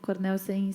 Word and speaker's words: Cornelsen: Cornelsen se escreve exatamente como se fala, não tem um S a mais, não tem um...